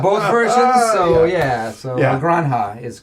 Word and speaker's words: Granja: Granja. Yeah. I've seen people say that like it's almost like gruncha, Okay. but I mean I don't I know very little about Spanish pronunciation.